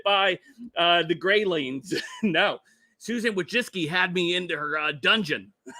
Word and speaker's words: Wojcicki: It took me forever to get Susan Wojcicki right. So. No, I am saying it right. Wojcicki is. I had to listen to it to make sure it was correct.